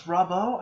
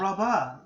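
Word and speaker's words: Rabo: I know it ends with an O now because it's Robbo. I thought it was Rabba.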